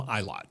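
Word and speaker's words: Ilott: little bit of one Callum iot that's how you pronounce his name yep Callum iot has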